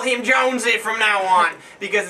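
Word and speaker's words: Jónsi: from the lead singer from Seoros, but it's Hunzie. Oh, really? That's how you say it. for for lack of a better, you know, us being named I win that we are, we're gonna just call him Jonesy from now on because it's probably easier and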